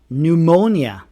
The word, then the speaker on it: pneumonia: The P is silent in PS or PN words.